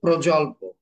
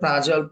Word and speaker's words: প্রজল্প: প্রথমটা হচ্ছে প্রজল্প। আপনি উচ্চারণটা প্রাজল্প করেছেন, এটা হচ্ছে প্রজল্প।